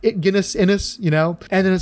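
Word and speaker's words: Ennis: was just recently corrected no it really is inis quit saying enus it sounds like you're saying penis it's like yeah I always thought that too um but it's apparently is inis and I should have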